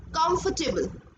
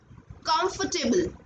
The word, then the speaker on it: comfortable: No, ये word comfortable नहीं है, it's comfortable. Comfortable. देखिए FOR, जो फोर की जो प्रोनाउंसिएशन है वो फ है जस्ट, आप नीचे वाइट कलर से देख भी सकते हैं, it's comfortable. Comfortable.